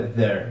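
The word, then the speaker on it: their: uma vez só é there não precisa pronunciar o i direito é agora vamos ver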